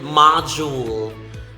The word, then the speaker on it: module: The same with module. The first syllable of module and the first syllable of modern are the same. Ma, m, and a.